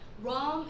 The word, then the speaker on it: Rome: 자, 우리가 로마라고 하지만요, 영어로 쓸 때는 Rome이라고 합니다. 같이 해볼게요. Rome is the capital city of Italy.